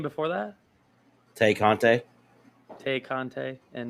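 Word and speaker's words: Tay Conti: tay kante is it is it like like thai content i think it's tay it's t-a-y i know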